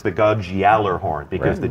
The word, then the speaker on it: Gjallarhorn: One of the most iconic weapons, one of the most debated pronunciations. I think we got it now. In our game, I'm sure anybody from Europe would tell us that we're a bunch of fools, but a lot of times Gjallarhorn.